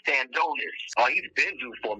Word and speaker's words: Stanionis: I know you're trying to pronounce that new name. It's Stanionis.